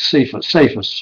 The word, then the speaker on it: Cephas: Back then his name was Cephas, which would be phonetically spelled C-E-P-H-U-S, but perhaps Cephas means Peter in Latin.